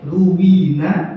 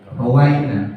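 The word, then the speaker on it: رُوِّينَا: Makanya ruwina bukan rawaina. Kalau rawaina kami meriwayatkan, ruwina kami kalau diriwayatkan berarti kita sudah mendapatkan izin untuk itu. Ya. Makanya kebanyakan membacanya ruwina walaupun tulisannya di kitab kita ini rawaina. Ya. Tapi kebanyakan bacanya ruwina.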